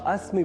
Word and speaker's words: अस्मि: अहम अस्मशा नारायण दत्त आपने ध्यान दिया होगा कि अहम अस्मि यहां अस्मि बोलने के क्रम में मैंने अस्मि के इ इस ह्रस्व अक्षर का विशेष रूप से अर्थात लघुता के साथ उच्चारण किया है।